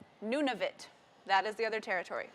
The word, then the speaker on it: Nunavut: She says it's Nunavut. That is the other territory. See, there we go. She even wrote it phonetically for me.